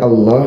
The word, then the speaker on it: Allah: Kenapa dibaca Allah bukan Allah? Karena begitulah pengucapan yang diucapkan oleh orang-orang Arab dahulu ketika mereka menyebutkan nama Tuhan mereka sebagai seorang muslim, Allah dibaca tafkhim tebal.